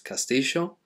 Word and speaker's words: castillo: is a gia castillo in argentina they pronounce it as castisho but it's never a la sound it's never like the